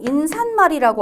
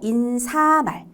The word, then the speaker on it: 인사말: 인사말. 이것도 인산말이라고 알고 계신 분 있더라고요. 인사말. 그리고 제가 저거 놓쳤죠. 예사말. 이것도 얘 산말 아니고 예사말. 발음 자체에 발음으로 시옷이 들어갈 만한 근거가 없어요.